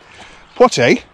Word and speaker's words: Poitiers: Poitiers, spelt and pronounced the same as the actor from the 50s and 60s, Sydney Poitier.